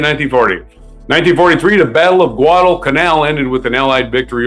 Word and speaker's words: Guadalcanal: 1943, the Battle of Guadalcanal ended with an Allied victory over Japan. Sounds like a big canal, but that's just the way it's spelled. Guadalcanal, big island, out in the South Pacific.